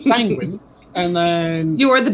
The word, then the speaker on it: Sanguine: Sanguine rhymes with penguin. Penguin Magman. So it's sanguine, and then You are the business goose.